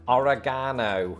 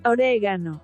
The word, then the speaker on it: oregano: oregano. The problem is reality dictates otherwise. Just as with the pronunciation favored by Americans, Spanish speakers also place the stress on the second syllable, resulting in oregano.